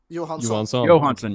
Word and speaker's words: Johansson: Johansson. Johansson, that's right. The Johansson. J is silent, correct? Yes, the J is silent.